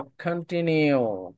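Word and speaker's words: continue: উচ্চারণটা যদি কন্টিনিউ, খা উচ্চারণ করেন শুরুতে, কন্টিনিউ, কন্টি, কন্টিনিউ। ঠি, ঠি, নট টি, টি ঠিক। না, কন্টিনিউ। ঠি, ঠি বলবেন। ঠিক আছে, ঠি বলার সময় উপর দিয়ে বাতাস বের করবেন।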